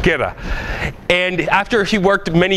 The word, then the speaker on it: Kerala: Yeah, it's a southern province in Kerala. Kerala.